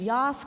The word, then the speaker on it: Yass: And for those still unclear on the pronunciation, I like to think Yass, Queen.